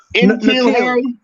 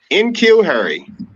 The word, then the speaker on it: N'Keal Harry: But N'Keal, how you pronounce his name, man? N'Keal Harry. N'Keal Harry.